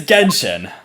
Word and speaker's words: Genshin: the game itself how do you go about pronouncing it impact okay it's it's it's genshin you know i presume father yes like gentian